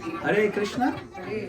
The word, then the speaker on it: Hare Krishna: Hare Krishna, Hare Rama. So, we have to pronounce it clearly.